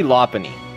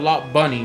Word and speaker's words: Lopunny: Well, they call it Lopunny with a P, but they should call it Lop Bunny with a B. Yeah, Lopunny. It's a P.